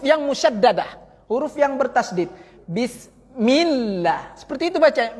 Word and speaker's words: Bismillah: Bismillah. Seperti itu baca. Milla itu suara tasdid. Itu suara tasdid. Bedakan suara tasdid sama suara sukun Bapak Ibu.